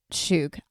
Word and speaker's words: skhug: I pronounce it shug. I don't think that's the correct pronunciation.